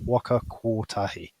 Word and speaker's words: Waka Kotahi: So for me, it was actually going, it's a different mouth shape to go or, Waka Kotahi. And it's just that thing where, but I'll still see new words and I'll say the O as an O, not an or.